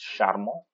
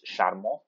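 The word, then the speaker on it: charmant: masked line form it's sharmo which means charming the plural form it's sharmo right so the pronunciation will be the same sharmo right so the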